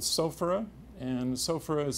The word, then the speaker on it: sophora: The one that I like the most is an herb called sophora, and sophora is spelled S-O-P-H-O-R-A.